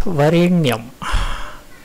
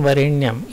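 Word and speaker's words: वरेण्यम्: The next is varenyam. The RE is to be sounded something like re-e-nyam. Also, the N in varenyam is not in, it is in.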